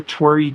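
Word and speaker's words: torii: It's called the Tori gate, which makes me happy. It's not spelled like my name. It's spelled T O R I I, but it's um it's a Japanese um gate.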